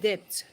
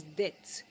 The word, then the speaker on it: debt: You your debt outside some of us call it depth. So, but the right word is debt. The B there is silent so that you can understand what I'm talking about.